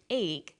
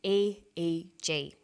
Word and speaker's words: EEG: We don't pronounce it EEG, we say EEG.